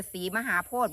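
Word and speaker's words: ศรีมหาโพธิ: สมบูรณ์ พี่ น้อง อำเภอ ศรีมหาโพธ บ่ จังหวัด ปราจีนบุรี แม่น บ่ อ่าน ว่า ศรี มหาโพ หือ ศรี มหาโพ พ ยาย พ่าน เออ โพด บ่ โพด ก็ เอา โลด เห็น น้อง อุงอิง บอก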